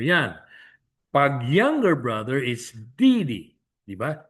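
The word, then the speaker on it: 弟弟: Pag younger brother is Didi. Diba? Didi. D, fourth tone. D. And then yung second D is neutralized. So Didi.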